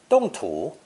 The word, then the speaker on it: 动: And is pronounced fourth tone, 动, 动.